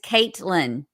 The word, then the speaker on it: Katlyn: And so, but the pronunciation is Caitlyn.